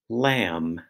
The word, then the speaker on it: lamb: started with line one lamb second word Nick Knack third word plum plumber and the last word is Ringle wrinkle now you'll notice that the M sound in Lamb is spelled m b the n Sound in